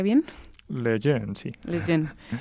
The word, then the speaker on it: Lejeune: y vitoria con la fundación Jerome Leon le pronuncia bien leen sí leen y además has compaginado esto con